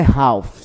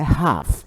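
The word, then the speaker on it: half: acima do relógio Ah não é Ralf tá não é alfa alfa é teimoso tá é Rafa esse L aí ele não é pronunciado então se eu quiser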